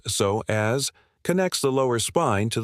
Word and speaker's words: psoas: The psoas, pronounced so as, connects the lower spine to the top of the thigh bone.